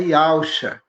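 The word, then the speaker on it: יהושע: E o seu filho amado, nosso irmão, é Yud-Re, Vav-Shinai, e sua pronúncia é Yausha.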